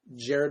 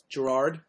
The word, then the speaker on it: Gerard: You said his name wrong. Jared Way. Gerard.